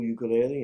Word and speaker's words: ukulele: Hot steel refers to the steel guitar played Hawaiian style and I play the cool ukulele and sing the songs. In Hawaiian it really is pronounced ukulele.